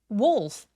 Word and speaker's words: wolf: Wolf wolf 여기서의 울f는 울f가 아니라 w라고 오 소리가 날 수 있도록 입을 둥그럽게 말아 주세요.